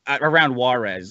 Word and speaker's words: Juarez: like trucking them across some back street around Juarez.